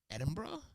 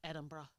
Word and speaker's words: Edinburgh: have some aqua have you had any crazy pronunciations when you were living in Edinburgh the way I said that was so strange